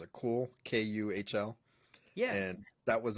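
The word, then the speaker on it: KÜHL: The other one on my list is I don't know how to pronounce it. Cool, Kuhl, yeah.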